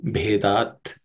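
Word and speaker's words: भेदात्: This bhe is the fourth letter in the pa class of consonants, so it has to be aspirated. Nana mata bhedat. Bhedat.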